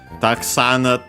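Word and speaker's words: たくさん: Taksan, technically accented, but yeah, accented, we keep the accent with the accent on the sa when used like with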